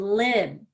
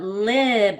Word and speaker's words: lib: So we have lip, I would say pretty quickly, but lib, I want to spend more time on that vowel as though I'm kind of singing it. Lib. I can hold that I for a while.